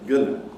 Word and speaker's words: gonna: And when going to is a tense former, you'll hear that in colloquial English, it's regularly pronounced as gonna. You'll sometimes see it represented in books, in where they show conversation, as gonna. People don't say gonna, but they do say gonna very, very frequently, very commonly.